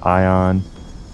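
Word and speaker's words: Aion: playing recently yeah like Aon pronounced ion uh this game oh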